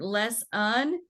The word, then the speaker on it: lesson: Missippi and this word Les un uh so this o in lesson does not make a short o what sound is the short o a a okay and it's not a long own so if you're trying